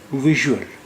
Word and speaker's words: ویژول: ویژول. ویژول یہاں اس کی آواز جو ہے وہ ژ کی آواز ہے.